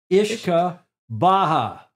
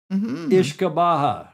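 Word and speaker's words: uisge beatha: and that those Scots and Gaelic words are pronounced ishka Baha ishka Baha it doesn't look like isaba doesn't look like that at all it looks like you yusa baa but it's pronounced properly ishka Baja I found that online so it must be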